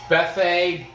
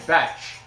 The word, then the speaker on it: Bethe: a much older fetch carrera that's it's it's bethe it's about beth with the e at the end but i guess people are pronouncing it fetch i there's no ch but whatever betch guerrera